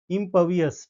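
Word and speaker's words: impervious: ये वर्ड है इम्पवियस। ठीक है, इम्पवियस, आर साइलेंट हो जाएगा, ध्यान रखेंगे, आर साइलेंट हो जाएगा।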